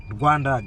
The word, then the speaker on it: Rwanda: Yeah, my brother from Guanda. Guanda. Rwanda.